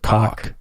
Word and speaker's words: Koch: I know it looks like Koch, but he pronounces it Koch.